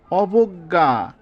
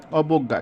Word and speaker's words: অবজ্ঞা: হয়ে গেছে, অদক্ষ, অবজ্ঞা, অবজ্ঞা। যেহেতু এটা বর্গীয় জয় সংযুক্ত আছে, অনেকটা উচ্চারণ উময় গয়ের মতো বা কিছুটা নাসিক্য আসে, এজন্য গয়ের উপর চন্দ্রবিন্দু হয়েছে, অবজ্ঞা, কিছুটা নাসিক্য হয়েছে।